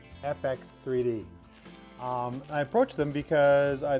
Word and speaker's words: FX3D: So I got my package actually quite a while ago from 3DFX, and I said it wrong again, FX3D.